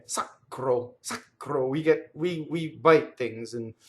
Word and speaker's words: sacro: Sacro. Okay, so we already had, we know the R is rolled, and we know this O is closed.